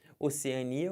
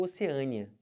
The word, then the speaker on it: Oceania: Aqui falando do continente, o continente pode ser Oceania ou Oceânia. O mais comum eu vi isso aqui, tá? Eu sempre coloquei na primeira fileira o que é mais comum. E essa aqui na segunda, aqui é a pronúncia mais estranha. Embora ambas estejam corretas.